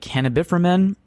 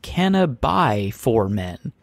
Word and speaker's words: Cannabiformen: I believe, would say something like Cannabiframen, but he writes, "The pronunciation of my handle is Cannabiformen, and that apparently is a line Method Man says in the movie How High?